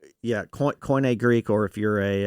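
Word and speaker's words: Koine: nerd you know that the pronunciation system stuff is changing it would actually be Q&A now if you're depending on who you study under but I we'll just go coin a because that's old school people so he'll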